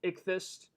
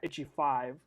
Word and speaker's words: Ichthys: I am your host, Ichthys. My name is Ichthys, and y'all who watching me for the first time, you'll be thinking like, oh, so that's how you pronounce his name. It's not Itchy5.